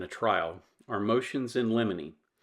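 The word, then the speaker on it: limine: trial are motions in Lemony now lemony is spelled l-i-m-i-n-e not l-e-m-o-n-y and the motion in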